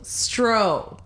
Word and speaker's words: Stroh: Stroh. There's a beer in the U.S. called Stroh's beer, Stroh.